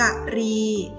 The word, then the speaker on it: กรี: อ่าน ว่า อะไร ค่ะ คำ นี้ อ่าน ว่า กะ รี กรี มี ความ หมาย